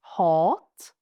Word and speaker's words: hat: Another example, hat, meaning hatred, and hatt, meaning hat. And as you can see, these mean very different things, and the only difference is how we pronounce the vowel and obviously how we spell it.